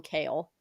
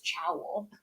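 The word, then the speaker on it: Chaol: can't call him kale my sister thought it was chowl which is so jarring to me I think in my head when I first started reading it I was like choll and I was like that's simply not right and then I was like all right I saw Tik Tok and someone was like kale and I was like okay yeah I feel like I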